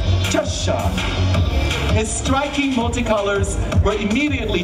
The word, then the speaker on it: Cheshire: I was told to pronounce it correctly. Cheshire.